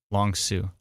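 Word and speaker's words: Long Sault: into Cornwall right now long Sue Oh Long Sue okay yeah like long like Sous Marine perfect I got it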